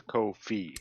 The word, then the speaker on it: Ko-fi: uh Kofi which is is that how you say it Kofi Kofi he said it was Kofi Kofi okay and you can